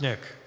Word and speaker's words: SNCC: referred to by the an acronym SNCC pronounced Nick the organization began in